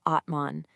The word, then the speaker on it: Atman: The word is Atman. It's pronounced Atman.